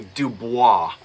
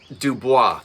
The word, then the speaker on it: Dubois: I come from South Jersey, and there is a large family of Duboises in South Jersey that don't pronounce it Dubois. They call it Dubois. And if you said Dubois, they'd say, what? So yes, French origin, originally Dubois. But just remember that pronunciations,